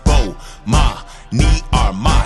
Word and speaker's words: Bomani Armh: I'ma say my name so you can pronounce it. Bomani Armh.